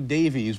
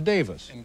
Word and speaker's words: Davies: and all last night i was calling you davies because it's spelled d-a-v-i-e-s but of course in in great britain it's davis well my apologies to